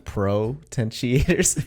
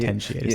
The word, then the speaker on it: potentiators: I've been saying propentiators. P R O instead of potentially potentiators.